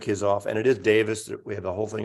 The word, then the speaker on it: Davies: off and it is Davis we have the whole thing of Davies I don't want to repeat that again that's how he pronounced Davis even though it's spelled Davies but there's a million